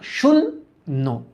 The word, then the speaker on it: শূন্য: শূন্য নর্মাল উচ্চারণ না, শূন্য, শূন্য। তাহলে এই যে লেখো শুন, তারপর লেখো নো, শূন্য।